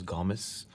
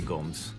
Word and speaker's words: Gomes: this is Ben Gomes well the correct pronunciation is Gomez this is Ben Gomez but I say gomese is Ben Gomes he